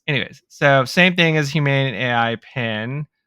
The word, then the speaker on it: Humane: We had talked about it when we were in our last episode or two, where we were talking about human AI or humane AI. I always Humane.